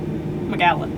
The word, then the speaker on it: Magallan: How do you spell it? Magallen or A-N. Magellan, but without, Magallan.